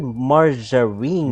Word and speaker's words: margarine: But why do you call it margarine? Margarine? Like, and not margarine? The G is a hard G. Yeah. Sorry, it's a soft G.